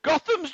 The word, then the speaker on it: Gotham: Gotham's just down the fucking road from us. It The is. cheeky Pronounced bastard.